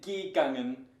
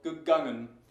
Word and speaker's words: gegangen: You wouldn't say gegangen unless you had some verbal problem. So, gegangen.